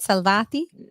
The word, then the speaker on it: Salvati: about your partner mik salvati is did I say it right salvati Perfecto oh beautiful gra I've